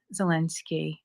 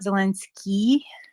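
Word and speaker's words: Zelensky: that sort of a at the end zelinsky zelenski so it's not zelinsky that would be the I with a DOT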